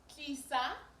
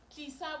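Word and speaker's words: tlisa: dula means sit and krisa Kisa which means bring t-l-i-s-a notice the pronunciation is still the sound we've talked about the sound um a little earlier on so that should be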